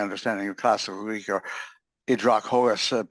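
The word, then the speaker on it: Ὑδροχόος: Idrachos, I would pronounce it from my understanding of classical Greek, or Idrachos, possibly accent on the O because of the accent mark there.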